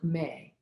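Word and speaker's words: meh: especially the vowel sound may spelled m-e-h and pronounced like the month of may and this really helps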